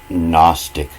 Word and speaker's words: Gnostic: And that's why Gnostic is spelt with a G, but you don't hear the G.